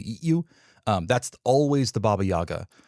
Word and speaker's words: Baba Yaga: you that's always the baba yaga also sometimes pronounced more properly pronounced something more like baba yaga so i'm not going